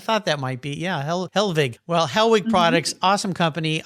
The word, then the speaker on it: Hellwig: car show website hellwig h-e-l-l-w-i-g now originally was that pronounced helvig as a family having some yeah blonde hair some german roots back there i kind of thought that might be yeah helvig well hellwig products awesome